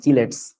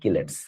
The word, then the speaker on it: chelates: বা সহজ কথায় কিলেটস কম্পাউন্ড আর কি এটার উচ্চারণ অনেকে বলে চিলেটস আমাদের সময়কার কোভিদ স্যারের বইতে লেখা ছিল চিলেটস উচ্চারণটা আসলে চিলেটস হবে না উচ্চারণটা হবে হচ্ছে কিলেটস সাবধান চিলেটস বলা যাবে না কেমিস্ট্রি বানান যেমন